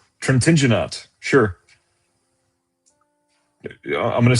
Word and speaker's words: Trintignant: Trintignant. Trintignant. Sure. I'm going to say Trintignant. Is that proper? It's Trintignant.